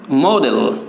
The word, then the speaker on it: modal: ওয়ান is primary and another is মডেল। ইয়েস, MODAL, উচ্চারণটা কিন্তু মোডাল, মডেল নয়।